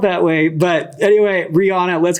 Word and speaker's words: Reijuana: So Reijuana's name is not Reijuana. It's Reijuana, but it's just spelled like Reijuana.